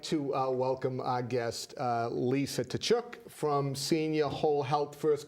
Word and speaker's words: Tkachuk: I would like to welcome our guest, Lisa Tkachuk from Senior Whole Health. First question is, did I pronounce the last name right? Perfect. Tkachuk. Perfect.